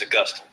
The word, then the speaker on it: Augustine: So don't say, what's the city in Florida? It's named after him, right? But it's not how you say it, right? It's Augustine.